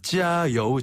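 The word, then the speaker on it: 加油: 표현하나 그러면은네 짜여 아 짜요우 정말 그래요 아네 이렇게 하는데요 조금 더 힘차게 발음하면 됩니다 짜요 짜요 짜요요 예를 들어서 중국 팀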